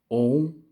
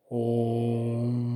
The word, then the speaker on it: Om: Mas parece que ele é escrito com 3 letras que na verdade soam como uma, né?